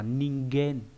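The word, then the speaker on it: 人間: Và trong một từ đặc biệt nữa là trong từ con người ấy, nó đọc là ningen.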